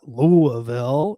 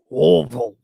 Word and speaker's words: Louisville: this place will go no it's not louisville it's louisville you just kind of mumble the whole word um so i know